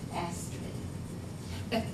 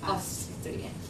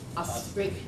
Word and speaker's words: Astrid: something, and she pronounced it Astrid. Yeah, but in Norway they say Astrid. Astrid, and they don't say the D on the end.